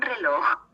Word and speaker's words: reloj: Un reloj. J is pronounced as kho.